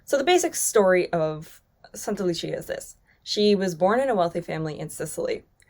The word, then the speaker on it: Santa Lucia: Sankta Lucia is the Swedish pronunciation, but the proper pronunciation is Santa Lucia, because Saint Lucy, Santa Lucia, is a Christian saint coming from Syracuse in Sicily.